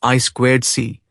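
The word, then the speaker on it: I²C: I superscript to C interintegrated circuit pronounced I squared C is a protocol designed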